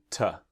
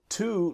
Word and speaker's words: to: Now, to, like 1, 2, is the strong pronunciation. The weak pronunciation is ta.